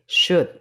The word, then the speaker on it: should: Cara bacanya L itu dihilangkan sehingga bunyinya menjadi should.